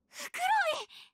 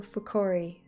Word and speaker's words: Fukuroi: Fukuroi! Yokatta. Sagashita zo Mitsuki. It was Masato Fukori. Fukori? Oh boy, I'm saying his name wrong. Despite the fact they just said it.